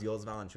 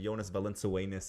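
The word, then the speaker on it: Jonas Valančiūnas: How do you pronounce Jonas Valanciunas? He's like Jonas Valenzuenas or something. Like as if some rhymes with Lithuania, Valenzuenas.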